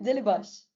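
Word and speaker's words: Delibaş: Basically, in Turkish, we have like an S with a line underneath it, like the baby C that you're talking about, Yeah.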